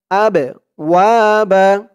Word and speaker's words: أبواب: আবওয়াবা। আমার মতো উচ্চারণ করুন, আবওয়াবা।